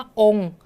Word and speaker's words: องค์: คำ นี้ นะ คะ คำ ว่า องค์ เรา ก็ จะ ไม่ อ่าน เสียง เลย คะ เดี๋ยว จะ ไม่ อ่าน ออก เสียง ค ควาย นะ คะ ต่อ ไป